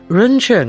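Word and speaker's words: 人乘: the first to promote Humanity vehicle pronounced run Chung in Chinese as expounded by Buddha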